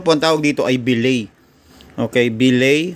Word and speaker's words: billet: mismong housing Ito po ang tawag dito ay bay okay bay o Iyung tinatawag na pin na pronounce ng iba as billet Okay ito po ay bille na aluminum material